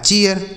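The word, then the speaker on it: chair: सी एच से बनेगा चौ, ए आई का उच्चारण ए है, तो इसे हम पढ़ेंगे चे, आर से रो, यह लिखा है चेयर।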